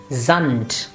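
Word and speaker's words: Sand: at a few examples here we have zand it will not be sa but will be then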